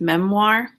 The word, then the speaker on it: memoir: That word is pronounced memoir.